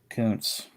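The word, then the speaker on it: Koonce: the John grubnera um is that how you pronounce that Koontz yes I wasn't sure Malcolm k-o-o-n-c it's oh k-o-o-n-c-e cool okay yeah I'm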